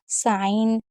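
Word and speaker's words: sign: Rule number 16 है, अगर कभी भी जी एन साथ में आएगा तो जी को नहीं पढ़ेंगे। जैसे साइन, एक और चीज़ याद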